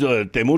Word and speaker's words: Timur: And only as Temur because Temur is the right pronunciation of Timur.